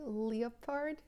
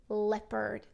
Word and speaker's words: leopard: to check it out now what about the pronunciation of this word sometimes students say something like leopard so so can you say it out loud